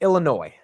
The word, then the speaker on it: Illinois: excited to get into Illinois because the S is silent of course of course